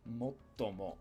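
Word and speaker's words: もっとも: Motomo. But then or although. It's almost a it's a glottal stop here with motomo. You hold out the T before you pronounce tomo.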